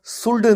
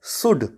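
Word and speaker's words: should: इस वर्ड को हम शोल्डर नहीं पड़ते हैं इस वर्ड को हम पढ़ते हैं शुड क्योंकि जो यूं के बाद अलावा यह है वह साइलेंट होता है दोस्तों आज हमने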